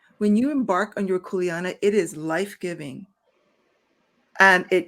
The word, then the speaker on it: kuleana: word again what is the word again it's kuleana k-u-l-e-a-n-a kuleana yeah corey can i adopt the